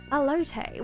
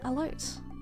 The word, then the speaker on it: Elote: Alote. Why did I say it like that? Alote. There you go. Alote. Alote. That's a sad room. Ooh! Money! Yoink! Oh. A loot. Elote.